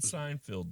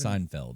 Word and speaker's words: Seinfeld: big difference I said Seinfield the other day like Seinfeld and I was like Seinfield you said field how do you pronounce I didn't I didn't even Seinfeld and that is correct that is the correct